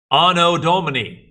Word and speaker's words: anno Domini: older and then you have 80 which is pronounced anno domini no dominique the two you can say it